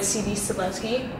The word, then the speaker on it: C.B. Cebulski: I'm here at Autodesk Sketchbook event with CB Cebulski. Hey, how's everybody going? Did I pronounce that right?